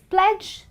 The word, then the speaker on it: pledge: pronunciations one more time it's pledge Dodge Grudge really really simple and that's the rule of the combination of DG when D is silent well I really hope